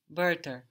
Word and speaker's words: Wörter: Die Wörter. Die Wörter. It's actually the same vowel not only as what we have in bird, but also as what we have in word in English.